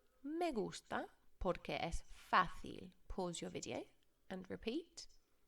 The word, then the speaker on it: fácil: repeat megastar porque es fácil notice it's got an accent on the ace you have to put emphasis on that I like it because